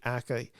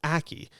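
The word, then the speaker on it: Ackie: but it is Naomi Aki she plays the character of Nasha I think I've mispronounced that the last name it's akie and what she is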